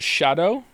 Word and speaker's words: Scadu: me did you know apparently scadu is pronounced Shadow uh why didn't they